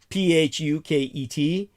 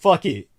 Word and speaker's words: Phuket: Phuket, as many people call it, Phuket. That's not how it's pronounced. In Thai, it's actually pronounced like Bangkok or Patpong. Just another obscene name. It's pronounced fuck it.